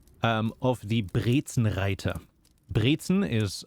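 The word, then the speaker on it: Brezel: something like that um of the briten writer Briton is how we say pretzel and rer is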